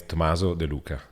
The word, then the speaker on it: Tomaso de Luca: My name is Tomaso de Luca.